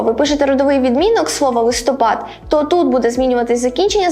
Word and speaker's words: листопад: шалиний листопад лиши тебему як правильно говорити листопад чи листопад якщо ви думаєте що можна вживати подвійний наголос залежно від значення то у мене для вас погані новини тому що це слово має тільки один правильний наголос на третій склад чому виникає плутанина тому